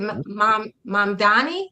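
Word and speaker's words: Mamdani: Is it mom Donnie? Is that how you pronounce his name?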